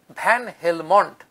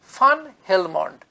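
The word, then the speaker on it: van Helmont: এরপর জবনিকা উঠল ভ্যান হেলমন্ট। আমরা বাংলায় লিখি ভ্যান হেলমন্ট, কিন্তু প্রকৃত উচ্চারণ হচ্ছে ইয়োহান্নেস বাপ্টিস্টা ফান হেলমন্ট। ভিএন যেটা ভ্যান লেখা থাকে তার উচ্চারণ কিন্তু এক্ষেত্রে ফান, ফয়াকার দন্তের ন।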